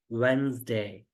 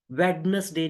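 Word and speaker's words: Wednesday: It's Monday, ट्यूसडे, वेंसडे। वेडनेसडे नहीं, D silent कर दे उसमें। वेंसडे, Thursday, Friday, Saturday, Sunday.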